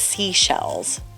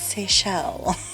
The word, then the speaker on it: Seychelles: And so many people I saw calling it seashells. And I was like, it's Seychelles.